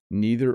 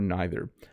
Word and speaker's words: neither: So either or either, neither or neither. I use both pronunciations. I don't know why. My only explanation could be that there might be a British pronunciation and an American, and because Canada is a mix of both, sometimes I say both.